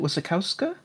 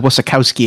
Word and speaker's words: Wasikowska: How do you pronounce it? Wasikowska? I believe so, yeah, Wasikowska. Okay, yeah, Mia. I thought you said Wasikowski at first.